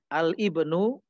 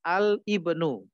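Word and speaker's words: الابن: Ini misalnya al-ismu, ya, bacanya al-ismu dan al-ibnu. Bukan alismu, bukan alibnu. Begitu ya.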